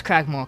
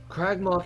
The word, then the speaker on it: Cragmaw: Where's Cragmore Keep? Cragmore Castle. Oh, he got the name wrong too.